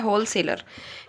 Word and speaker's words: होलसेलर: से क्यों शुरू हुआ यहां पर डब्लू जो है साइलेंट रहता है इसको बोला जाता है होलसेलर यह होता है डिस्ट्रीब्यूटर